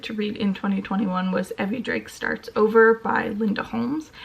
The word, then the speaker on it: Evvie: read in 2021 was Evvie Starts Over by Linda Holmes. I have started this book and have since learned that it is pronounced Evvie, like Chevy, and not Evie, like the Pokemon.